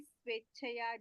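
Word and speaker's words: स्वेच्छया: It's just what I'm focusing on here is the pronunciation of the e. As you know, this e is always long in Sanskrit. Whatever happens, nothing can shorten. It's always an e.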